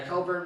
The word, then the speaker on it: Cockburn: Coburn and yeah, Coburn, but spelled like the other way. Cockburn, yeah.